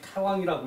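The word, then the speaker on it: 大王: 계보거든요 그 이전에이 대왕 대왕이라고 써놓고이 태왕이라고 읽어요 왕 중에 왕이라는 얘기죠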